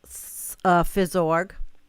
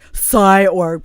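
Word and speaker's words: phys.org: one is also in fizzorg i said it right i don't know why i always want to say psyorg but it's physics all right so wildfires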